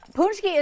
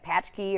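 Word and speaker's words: pączki: they were like what punchki is spelled in a Polish way so it's p-a-c-z-k-i so when you're looking at it it looks like patch key or potchke or something yeah absolutely like I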